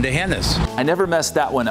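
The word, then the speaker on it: D'Hanis: Not the heinous. A common mistake. But wrong. And remember, there's no anus in Dehennis.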